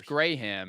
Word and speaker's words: Graham: Why is there one syllable for you guys? And I wonder why we do two.